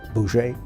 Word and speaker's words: Bose: There were the Gandhi types, who were nonviolent, and then there was a Chandra Bose, who it's spelled B-O-S-E, but it's pronounced something like Boucher.